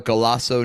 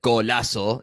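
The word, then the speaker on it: Golazo: and uh they have a gasso newsletter that they oh that was a we weird way to pronounce it golaso newsletter uh that they send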